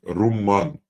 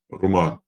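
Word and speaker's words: رمّان: Читается как румман, удвоенное «м». Но в русском языке часто передается как с одним «м» – руман.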